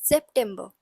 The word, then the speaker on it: September: it's pronounced as September remember that s has a little bit of z sound in it so it's pronounced as September next we have October